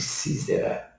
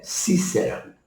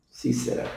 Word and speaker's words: Sísera: com som de z aí nós fala sempre sísera mas a a na no hebraico mesmo lá na na forma de pronunciar bíblica é Cícera Cícera com s assim por diante não